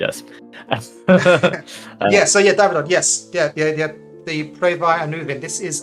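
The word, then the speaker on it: Preiddeu Annwfn: Pledau Anvin. Almost. No. Okay, how do you say it? Pray thy. And Anuvin. Yeah. All right. And then Nightavad, please grade us. Davidon. Yes. Yeah. The Pray thy Anuvin.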